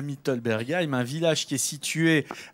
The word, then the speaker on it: Mittelbergheim: mittelbergheim j'ai bien prononcé défi nous pas ça va oui merci mittelbergheim donc cela remet un petit coup ça fait